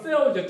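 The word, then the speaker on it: Deo: 정확하게 발음은 페오죠. TH 발 페오.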